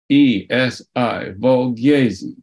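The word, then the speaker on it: Volgyesi: I'll spell it for you, V-O-L-G-Y-E-S-I, Valgezi.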